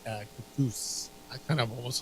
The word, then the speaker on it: Kaktus: Yeah, and I think they pronunciate it cactus.